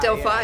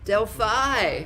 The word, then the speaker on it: Delphi: can you say it one it's a delphi delphi it's all fine delphi all right well i'm really sorry about that i'm good i don't really know delphi thank you so much for being on the